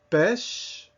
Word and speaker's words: pêche: Pêche, meaning peach. Now, you can see that these are not all spelled the same way, but they all have that same sound, eh.